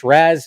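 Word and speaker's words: Ra's: debate comes in um some people will argue that both of them are acceptable pronunciations because one refers to the demon head head as in literally as in a head and then another translation is head as in the head of an organization so it's more figa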